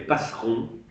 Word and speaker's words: Passeron: En 1967, par l'écriture d'un texte, ils sont deux, Bourdieu et Passeron, comme ça se prononce Passeron.